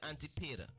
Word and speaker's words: Antipater: Antipater.